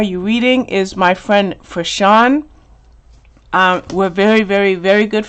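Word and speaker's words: Frishaun: Aaron, her name is Fashawn. It's F-R-I-S-H-A-U-N. Let me tell you how to say her name. Her name is Fashawn, Aaron.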